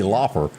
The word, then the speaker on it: Lauper: But Cyndi Lauper, you do pronounce it Lauper, don't you? Yeah, you do.